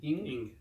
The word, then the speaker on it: Ng: I don't know how to pronounce his last name. Ing. Yes.